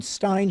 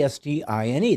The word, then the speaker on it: Stine: It's spelled as it sounds. I mean, Stine should be Stine. That's how we spell it. And yet they always do it EIN or IEN. And so I have to think of them who spells it phonetically, Stine, that they're not really